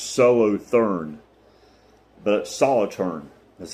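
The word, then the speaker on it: Solothurn: Solitaorn. It's spelled looks like it it would be pronounced solo, but Solitern is how they pronounce it.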